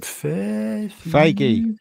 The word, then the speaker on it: Feige: You know, if Kevin, how do you pronounce his name? Feige. Feige.